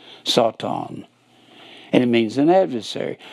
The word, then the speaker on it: satan: will be set on it's pronounced s-a-w-t-a-w-n that's the way it sounds sought on and it means an